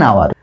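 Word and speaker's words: hour: কারণে কিন্তু এর আগে আমরা এন বসালাম এন আওয়ার যদিও কনসোনেন্ট এইচ টা তবুও কিন্তু এর আগে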